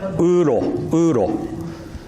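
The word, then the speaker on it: 有漏: In Japanese, we pronounce it uro.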